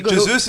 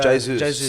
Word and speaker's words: Jesus: It's not Jesus, by the way. It's in Portuguese. The J is pronounced. So, Jesus.